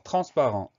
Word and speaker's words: transparent: Alors, transparent, première syllabe, trans, le son an va s'écrire an, donc tran. Ensuite, spa, spa, et rent, rent. Donc, attention, on a deux fois le son an, transparent.